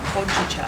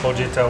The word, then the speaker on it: Hojicha: Hojicha. Hojicha, which is a roasted green tea.